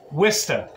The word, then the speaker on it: Worcester: But you told me that it's pronounced Wista.